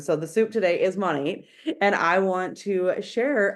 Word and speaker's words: Monat: like to say is at the beginning it was very simple you guys to describe to people how to say it it is modern nature Mo Nate okay but now we've